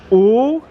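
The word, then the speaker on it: 五: Now in Chinese, 5 is pronounced "oo," and my mom would go, "Let's wake up, we got to go to school."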